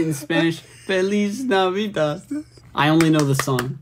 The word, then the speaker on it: Feliz Navidad: tsunami with how do you say the Spanish Feliz Navidad I only know the son I don't actually know how to say that it's Feliz Navidad okay I'll be there I'll be there by